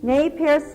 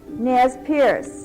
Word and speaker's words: Nez Perce: gave them the name nay P which means pierc nose actually they did not follow the practice of piercing their noses and inserting bright shells or Pebbles as some Northwest Indians did the French pronunciation of n was later dropped by the English-speaking settlers who called them Nas Pierce in 1805 the estimated